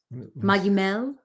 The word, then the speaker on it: Magimel: yes there you go magimel this is this what you're thinking of yes maim maim maim Ben a soft G a soft G uh